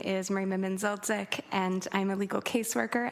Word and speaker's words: Merima Menzildzic: My name is Merima Menzildzic, and I'm a legal caseworker at the Hamilton